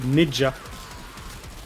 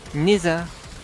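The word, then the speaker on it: Nezha: Table basse le prononce toujours différemment. Mesa et Neja. Neza.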